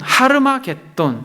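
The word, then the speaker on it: הר מגידו: 하는 견해가 여러가지가 있습니다 정확한 히브리어 발음으로는 하루마 겟 떤 입니다 하루 라고 하는 것은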